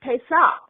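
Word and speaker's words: פסח: The word Passover is pronounced Pesach in the Hebrew language.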